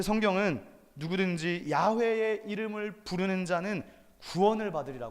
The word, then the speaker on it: 야훼: 문자는 야외 라고 밝혔습니다 그래서 우리는 정확히 발음하면 야외 그러나 번역본 으로서 여호와 라고도 말할 수 있겠습니다 어 근데 여기서